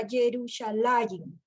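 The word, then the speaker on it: ירושלים: Entonces, con lo que usted nos ha expresado, nos ha enseñado, nosotros, por ejemplo, con la palabra Jerusalén, nos dijo que se pronunciaba Yerushalayim.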